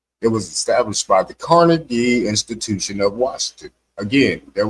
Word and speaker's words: Carnegie: And the proper way to pronounce his name is Car Negi, right?